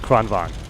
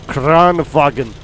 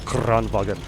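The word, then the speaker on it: Kranvagn: tank the crown wagon the crown wagon there i pronounced it correctly last time i think i called it grand van so crown wagon or kran wagon here we go so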